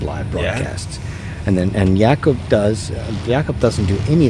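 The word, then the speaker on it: Jakob: stuff is on his YouTube channel so it's yakob j a k o b you'd think it was spelled Jacob but it's actually called pronounced yakob so yakob C like j a k o b space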